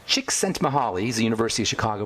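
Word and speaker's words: Csikszentmihalyi: His name is pronounced chicks sent mahali.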